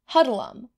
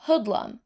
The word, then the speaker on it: hoodlum: when the police appeared hudlum was the watchword that sent every skulker to cover but the irish element pronounced the watchword with a rounder sound and so hudlum caught the ear of the passerby and soon was adopted